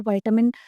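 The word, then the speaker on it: vitamin: जो सनलाइट की प्रेजेंट में जो विटामिन प्रेजेंट होता है वो कौन सा है? आप इसे विटामिन भी बोल सकते हैं एंड विटामिन भी बोल सकते हैं। दोनों प्रोनाउंसिएशन ठीक हो जाएंगी।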